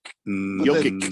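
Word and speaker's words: Jokić: There's no H in Jokic either. But there really should be an H in Jokic. Jokic. That's how the Eastern Europeans spell that, and so that's how you pronounce it.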